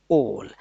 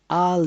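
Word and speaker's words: owl: आज का आपका जो वर्ड है सीखने वाला वो है ओल, ओल. ये ओल है, ओल, आल नहीं है.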